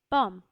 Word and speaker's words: pomme: So apple in French it's pronounced as pomme, and pear in French is pronounced as poire,